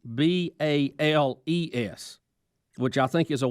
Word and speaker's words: Baals: Even though it is still spelled Baals, they do not pronounce it as the mayor did Balls. They now pronounce it as Bales, Bales, which I think is a wise family call.